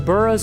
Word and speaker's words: burgh: That's where the buras are. Um if you see that in Scotland, it's bur. uh is how you pronounce it.